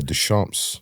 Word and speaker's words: Deschamps: is cool too yeah Des shamps Des shamps like French but it's it's spelled like thechamp kind of like it